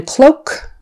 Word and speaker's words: cloak: sound long and then cloak cloak like you're wearing a cloak that's a long o even though it's O A it's o just o cloak cloak let's see